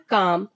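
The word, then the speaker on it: calm: मतलब होता है चाकू इसमें यल बर्ड साइलेंट होगा तो इसको हम क्या पढ़ेंगे काम काम का मतलब होता है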